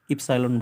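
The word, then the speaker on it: epsilon: लिखा जाता है यह भी इस चलन है इप्सिलोन बोलते हैं ए सिक्स नंबर चल लेते हैं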